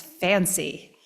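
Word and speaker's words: FHANC: net forli forhome dmatch um there's also something cumbersomely called FHN C but we pronounce it as fancy fair housing Advocates of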